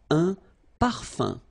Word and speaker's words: parfum: So remember, even if you've got this like that, phonetically it's exactly the same thing as if you would have un. So it's nasal and it's un. So it really goes in your nose. You don't pronounce the M at all.